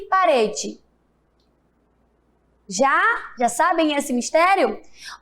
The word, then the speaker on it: parede: Rede e parede. Já sabem esse mistério? Observe que quando eu falo rede, o E tem som de quê? De I. E parede, o E também tem som de I.